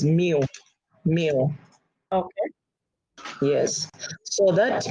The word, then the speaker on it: mu: Okay, so the Greek letter is spelled mu. Okay, but is read as mu.